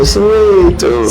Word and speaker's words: Soweto: I feel like I'm not saying it right. I think I should say Soweto. Soweto, yes.